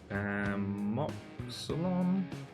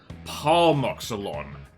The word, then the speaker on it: Palmoxylon: Pamoxylon. How do you spell the Pamoxylon? Palmoxylon. I've been mispronouncing that this whole time.